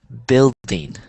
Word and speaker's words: building: it's building yeah so this is pronounced building so I like to think of it like this um Bill Bill Dean Bill de Dean kind of like b i l l then Dean well here here we